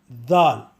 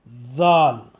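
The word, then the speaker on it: ذال: Now let us pronounce Dal. Let us keep our tongue in partial TH position and then say with a vibration Dal, Dal, Z-A-A-L, Dal.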